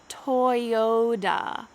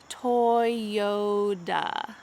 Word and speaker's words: Toyota: a toyota i do let's make sure that the second t in this word changes to a d this is what happens in